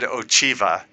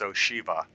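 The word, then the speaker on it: Ocheeva: You know, he said Ochiva, which I said, and she corrected me and said it's Oshiva. So, nobody can pronounce CH consistently in this game, which is interesting.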